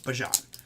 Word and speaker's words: Bijan: It's not Bijan, it's Bijan.